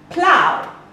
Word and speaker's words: plow: Plow. Plow has an ow sound, as in cow.